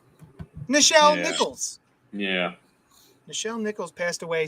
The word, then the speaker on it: Nichelle Nichols: Nichelle Nichols.